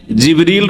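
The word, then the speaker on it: جبريل: আর তিনি রূহ, তাহলে জিবরাইল আলাইহিস সালামের নাম কোরআনে কারিমে জিবরিল রয়েছে, যেটা অন্য উচ্চারণে জিবরাইল, অন্য কেরাতে জিবরাইলও, জিবরিল, জিবরাইল আর রূহ।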